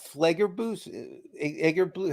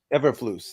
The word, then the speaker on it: Eberflus: Eberflus. Eberflus, that's how you say it.